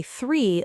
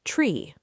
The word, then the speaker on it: three: Yes, for example, some people always say three like tree. The th sound is difficult. It doesn't exist in many languages.